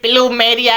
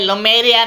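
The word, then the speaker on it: Plumeria: वो तो ठीक है भाई, लेकिन ये प्लूमेरिया है, लुमेरिया नहीं है। अबे घोंचू ये लुमेरिया ही है, पी इसका साइलेंट है।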